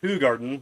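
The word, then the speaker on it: Hoegaarden: Trying to see if there's like a translation to see exactly well, it's pronounced Hogarden, what it means, but it's not.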